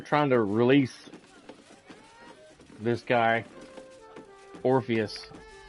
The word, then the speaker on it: Orpheus: I don't trust them trying to release this guy Orpheus. His name rhymes with Morpheus.